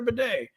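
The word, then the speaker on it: Badie: to Great Links like he says it's Tyler Beday it was Tyler BTY at missou I'm gonna say Tyler Bay since apparently that's how he wants to pron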